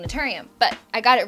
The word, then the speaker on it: Naturium: If you watched my clogged pores video, you realize that I had a hard time saying Naturium, but I got it right.